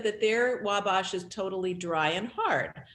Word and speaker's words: Wabash: indiana uh we must she's saying it's not pronounced with a broad a so that would mean wabash wabash yes anyway we stand